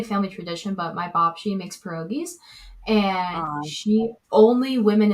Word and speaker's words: babci: So probably, it's not really a family tradition, but my babci makes pierogies, and only women in the family.